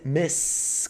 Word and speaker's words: Miss: O de baixo, com 2 S, é Miss, com som de S.